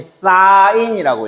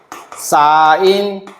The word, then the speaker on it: sin: 자, 그러면 지금 직각삼각형에서의 저 삼각비는 종류가 뭐 뭐 있냐면 SIN 이거를 우린 사인이라고 읽어. 사인 그리고요 옆에 중심이 되는 각이부터 a를 기준으로 사인.